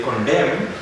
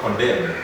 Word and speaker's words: condemn: column three column then we say condemn not condemn then dumb him and again